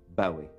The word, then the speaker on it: Bowie: David Bowie thank you for having me but I should it's actually pronounced Bowie stay with Bowie right well that's close enough